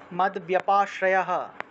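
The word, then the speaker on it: মদ্ব্যপাশ্রয়: কুরবান কুর কুরবান করবানো মদ ব্যাপাশ্রয় এটা আসলে মদ ব্যাপাশ্রয় এভাবে উচ্চারণটা আসবে মদ ব্যাপাশ্রয় ব্যপাশ্রয় এভাবে হবে এখানে ভুল লিখেছে ওরা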